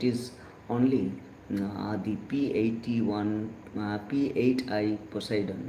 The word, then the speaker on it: Poseidon: Um it is um C30 super Hercules or P81 Poseidon. Actually the pronunciation has to be uh Poseidon.